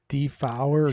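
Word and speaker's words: Dafoe: actually like it's not the vote it's actually pronounced like defower yeah do something but they kept saying to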